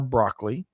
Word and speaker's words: Broccoli: James Bond the only Bond so Albert R broccoli and yes that is how he pronounced his last name who was nicknamed cubby